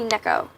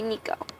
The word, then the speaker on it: Neko: Sorry, my cousin Nikki told me that you don't say Neko, even though it's spelled Neko, you say Nico.